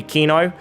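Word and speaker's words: Cyno: the hilly Charles is as close as you can really get to the way of saying it in Greek or Arabic Greek would be Kino and I've been told in Arabic there's two ways to say you can even go for Sino it depends if you're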